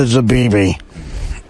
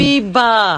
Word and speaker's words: Zabiba: I would donate one of everything I ate to Zabibi. I thank you. Isn't that her name? What's her name, Robin? Zabiba. Oh, I'm sorry. Oh, I'm so off with Zabibi. Zabiba.